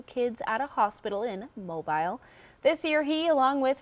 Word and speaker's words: Mobile: at a hospital in Mobile. This year, he, along with friends, family, and others, filled 2 trailers with several thousand presents worth up to $30,000. And down south, they pronounce that mobile. Mobile.